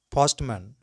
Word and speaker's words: postman: When words ending with MAN as suffix are pronounced man, not man, like businessman, businessman, postman, postman, policeman, policeman, chairman, chairman, fireman, fireman, fisherman, fisherman, milkman, milkman, englishman, englishman.